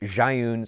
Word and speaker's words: Zhiyun: That is the companion app to the Zhiyun Smooth Q3. By the way, that is apparently how it is pronounced.